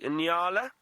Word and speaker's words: Nyala: And one of my favorite antelopes in this area, Taylor, the Inala. Often a lot of people get confused with that name, Inala, and it's spelled Nyala.